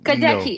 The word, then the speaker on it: Gadecki: Side of Death, Sabina Gadecki. Did I pronounce it correctly? No, Gadecki, it's beautiful. No, it's Gadecki. beautiful. No, it's beautiful. You did. It's a Polish last name.